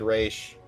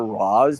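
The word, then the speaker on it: Ra's: And in Batman the animated series, they pronounce it ra. Yeah, that too. I I it can be both. Honestly, I just prefer Roz because Roz is sounds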